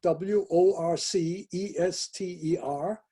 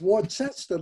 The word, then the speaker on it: Worcester: massachusetts he said where so he showed her w-o-r-c-e-s-t-e-r she said have you been drinking that's more chester like the sauce i use orchestra sauce no